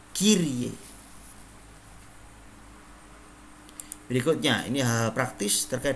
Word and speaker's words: Kyrie: Sementara Y dibaca I, maka dibaca Kyrie.